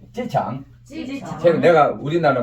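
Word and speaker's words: 机场: 일성과 사성이니까 지가 돼가지고 쏘름으로 해봐. 찌창. 창은 어떻게 돼? 위로 좀 내려와서 이렇게 다시 도로 내려왔다 올라가야지. 찌창.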